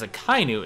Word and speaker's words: Akainu: That yes, technically separately they're Aka and Inu, but in Japan when you put them together, you drop it as a Kainu. It's like saying Des instead of Desu.